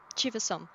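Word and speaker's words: Chiva-Som: Shiva Psalm? yeah, Chivasom.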